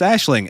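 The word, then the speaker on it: Aisling: myself to pronounce um I had to look up the pronunciation of her first name but I was like I mean sure it's Ashling and then I was like oh I was right yeah just because there's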